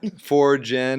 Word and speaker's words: Forgn: Forgin. It's like forge and generative. Not merge. like the number 4, but like forging your path.